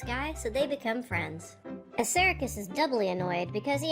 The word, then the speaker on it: Assaracus: Actually, his name's pronounced Assaracus, but...